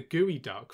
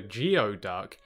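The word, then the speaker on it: geoduck: of this week's animal despite the fact that it looks like it's called a geod duck it's actually pronounced gooey duck which just makes the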